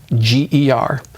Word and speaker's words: Nordlinger: I think there's only basically one way to spell it, but I do spell it for people. It's Nordlinger.